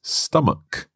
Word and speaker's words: stomach: of stomach mark well this word ends with ch and that's normally pronounced CH like church or chicken but here it's stomach a hard k sound that's right so watch